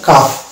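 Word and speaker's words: calf: এ হচ্ছে আকার আর এফ এ হচ্ছে ফ, তাহলে পেয়ে গেলাম কাফ।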